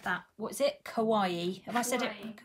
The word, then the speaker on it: kawaii: Kawaii. Did I say it right? Yeah, you normally say kawaii. Kawaii is just Japanese for cute.